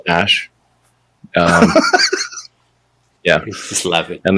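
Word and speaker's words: Æ: The AE is like pronounced Ash.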